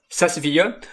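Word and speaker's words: SAS Viya: It's not SaaS, it's not software as a service, it's the software SaaS, SaaS, SaaS, and then VIA, SaaS VIA.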